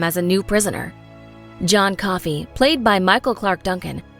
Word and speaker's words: Coffey: John Coffey, ma'am. Like the drink? Only no. Not spelled the same.